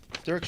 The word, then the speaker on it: Dirk: I had dinner with Dirk, that's how he pronounces it, Dirk Schiemann, the first night, and I was able to have lunch with Oliver and Martin.